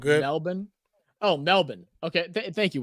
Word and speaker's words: Melbourne: SMI Heist three not Melbourne it's pronounced Melbourne oh Melbourne okay thank